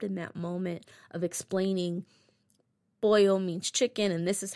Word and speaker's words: pollo: that moment of explaining boil means chicken and this is how you pronounce it and two L's in Spanish sounds like a y and as he's putting